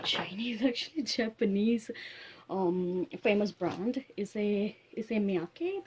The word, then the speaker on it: Issey Miyake: Issey Miyake, that's how this pronounce it.